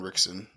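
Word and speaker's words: Ritchson: I call him Alan Richter. It's Alan Rickson.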